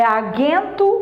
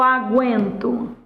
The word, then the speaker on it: aguento: pronuncia essa palavra é agento ou aguento aguento significa que você tá pronunciando o u Então antes antes a